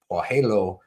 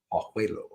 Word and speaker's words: Pajuelo: Off the coast said Bitsy said Pajuelo is how it's pronounced. Pajuelo.